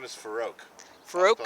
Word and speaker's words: Farrokh: My name is Farouk. Farouk? I'll spell it for you.